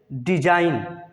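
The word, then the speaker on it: design: का नहीं होगा जी साइलेंट ए से पहले आया जी हमेशा साइलेंट होता है जैसे डिजाइन क्या बोलेंगे इसको डिजाइन रिजाइन साइन हमेशा साइलेंट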